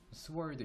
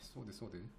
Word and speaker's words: sword: 양날의 그죠, 양날의 검인데 이거 W가 묵음이에요. sword 이러면 안 됩니다. sword.